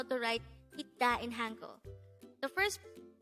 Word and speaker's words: 있다: Itta. Itta. This pronounced is two-syllable word. The first syllable is it, second syllable is da.